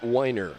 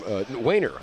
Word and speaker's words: Wahner: Cleveland, alongside former Spartan runner Wahner. I am Wahner. I said your name wrong, man.